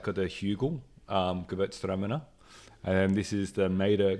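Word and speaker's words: Gewürztraminer: I went for a Mader Gewurztraminer. Is that how you pronounce it? Gewurztraminer? Is it? Not just Gewurztraminer. You got to have a pause in between.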